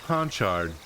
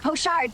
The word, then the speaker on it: pochard: A red-crested ponchard. Pochard. Sylvia chuckles at the attempts to pronounce the name. Haha, that's a mouthful. I think you're going for pochard, but I like your attempts. Red-crested pochard, that's it.